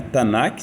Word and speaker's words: Tanakh: Tanakh, 3 sílabas, Ta, Na e Ki. Ta de Torá, Na de Nevim, os profetas, e Ki de Ketuvim, os escritos, Daniel, e